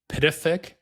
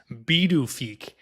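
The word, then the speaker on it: Pituffik: So it was renamed to, I'm going to say it how it's spelled, Pidafik, but it's pronounced Bidufik.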